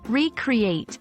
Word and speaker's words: recreate: be careful with emphasis recreate with stress on the first syllable typically means to create again on the other hand